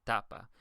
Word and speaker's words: tapa: Same thing here. The second to last syllable is ta, and it also is the first. So you would say tapa.